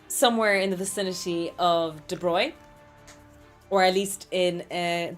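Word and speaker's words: de Broglie: So, his name is De Brogley if you spell it out, but it's pronounced somewhere in the vicinity of De Bruyne or at least in uh the accent that I speak in.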